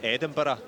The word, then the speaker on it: Edinburgh: In case you're wondering, Tim Flynn was his college coach at Edinburgh. It's actually pronounced Edinburgh, but I think you'd have to adjust your TV screens at home if you say that too often.